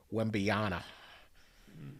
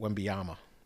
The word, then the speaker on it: Wembanyama: Pretty excited for this Wembanyama. Wembanyama. How do you say it? Wembanyama.